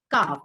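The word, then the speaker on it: calf: उसको क्या बोलते हैं काफ ठीक है तो काऊ काफ इसमें काफ में एल साइलेंट होता है शीप लैम ओके शीप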